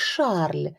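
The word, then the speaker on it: Charles: дядька бо дядько звати Кароль що по французьки вимовляється як Шарль а її Шарлотта і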